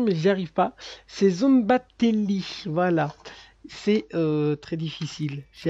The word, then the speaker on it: Szombathely: une photo pour essayer de trouver exactement la prononciation, mais j'y arrive pas. C'est Zombatelli, voilà.